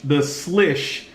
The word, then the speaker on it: Slysz: see here it is thus leash thus lish is my understanding of how to pronounce the slash Bui so I wanted